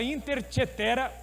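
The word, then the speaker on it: Inter caetera: uma carta chamada intercheter ela se escreve Inter do jeito que se fala coetera intercoitera essa carta chamada interchetera o Papa diz o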